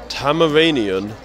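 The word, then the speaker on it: Tamaranean: heat next question what alien species is Starfire tamaranian did I say it right he actually did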